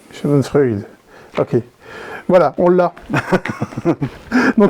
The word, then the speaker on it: Schadenfreude: le phénomène est là scadon FRUD de chez studo turbine Chad Freud on a suffisamment les commentaires qu'on Pr très mal prononcé c'est vrai ouais Shad c'est l'Allemand ok donc shadon freid shadon freid ok voilà on l'a